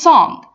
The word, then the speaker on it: song: you so much and do not never ever stress on your G let's take the examples to make it clear I love this song again I love this